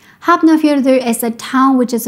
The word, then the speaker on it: Hafnarfjörður: Sometimes when F and N are together, they are pronounced like BN, like hafnar, hafnar. Another letter is Ö. This letter is not used in English and is pronounced Ugh. So just think of the noise you make when you want to throw up, like ugh, ugh, ugh. So the pronunciation of this word is Hafnarfjörður.